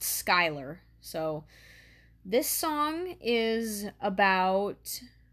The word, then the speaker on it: Schuyler: But yeah, it's pronounced Schuyler.